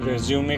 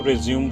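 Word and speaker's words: résumé: बहुत से candidates रेज्यूमे को रेज्यूम बोलते हैं, जबकि इसका करेक्ट प्रोनाउंसिएशन है रेज्यूमे।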